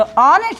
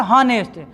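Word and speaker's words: honest: इसका प्रोनाउंसिएशन करने के लिए हम लिखेंगे, इसका प्रोनाउंसिएशन होता है ऑनेस्ट। इस तरीके से होता क्या है, ऑनेस्ट। तो ऑनेस्ट होता है, नॉट हॉनेस्ट।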